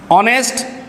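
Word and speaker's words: honest: ऑनेस्ट, hotel, इनकी शुरुआत जो है वो कॉन्सोनेंट से हो रही है, लेकिन इनका जो प्रोनाउंसिएशन है, इनका जो साउंड है, इनकी जो ध्वनि है वो अपने आप में वोवेल की आ रही है।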